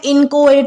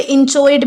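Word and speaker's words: inchoate: अगला वर्ड आता है इनकोएट या फिर इंचोएट भी इसे प्रोनाउंस किया जाता है। जैसे कि अगर आप कहीं पर ऑफिशियल प्रोनाउंसिएशन इसका चेक करोगे तो आपको इंचोएट मिलेगा, लेकिन कुछ कुछ लोग इसे इनकोएट भी प्रोनाउंस करते हैं।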